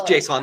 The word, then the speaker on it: JSON: I don't know what exactly is a It's JSON. You how got it. it's pronounced.